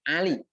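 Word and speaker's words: علي: Jadi kalau ditulis nama Pak Ali, tapi dibacanya Ali. Jadi pakai ain.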